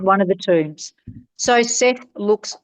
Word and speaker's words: Seth: Seth. Seth. Which Seth? The Egyptian Seth. S E T H. Yeah. But yeah. So set they pronounce it. That's where we get sunset from.